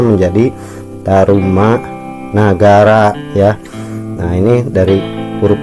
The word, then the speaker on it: Tarumanagara: Nah taru ra ini supaya menjadi ru ya, kita beri tanda panyuku di bawah sini pemirsa ya. Jadi ini dibacanya bukan ra ya, tapi ada tanda panyuku, a nya berubah menjadi u ya. Tanda baca panyuku merubah bunyi a tadi menjadi u.